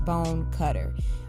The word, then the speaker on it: Bonecutter: H that's and cutter is B oh and E C UT ter just how it sounds bone cutter all together alright and so Facebook